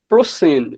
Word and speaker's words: ProSyn: Um so, let me greet every member of uh How do you pronounce this your network name? ProSine or ProSin? Uh ProSine.